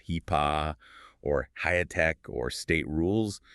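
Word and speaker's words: HIPAA: If your practice deals with regulations like HIPPA, pronounced HEPA or HIAC or state rules, well, the federal slowdown means delays.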